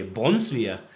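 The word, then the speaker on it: Brunsviger: And I think you have to say Brunsvier if you have to say it correctly because it's from Funen.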